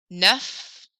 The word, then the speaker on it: neuf: huit, neuf. Neuf, when you are spelling these, E-U makes an E sound in French, same as you saw in the number 2.